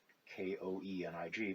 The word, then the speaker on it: Koenig: l dot and then k-o-e-n-i-g but it's pronounced koenig so l koenig